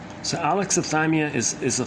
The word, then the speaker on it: alexithymia: Okay, the proper pronunciation, alexithymia. So the stress is on the third syllable. So alexithymia is a 5-syllable word.